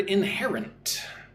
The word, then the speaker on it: inherent: Look at the word inherent. Inherent. Stress goes on the second syllable again, hair.